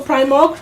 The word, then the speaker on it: PRIMORG: Remember that you can follow us on our social media platforms at Official PRIMOG. PRIMOG is spelled PRIMORG.